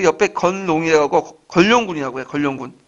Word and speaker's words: 견룡: 견룡. 그러니까 견룡. 그래서 걸룡이라고 하죠. 건룡. 발음이 안 되는데 그 왕을 용이라고 하잖아요. 그 옆에 건룡이라고 하고 걸룡군이라고 해요. 걸룡군.